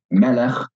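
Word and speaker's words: מֶלֶךְ: So, melech, king, is accented at the beginning of the word. But if I take the same consonants and put in some different vowels, malach, he ruled, then you can hear that the stress is at the end of the word.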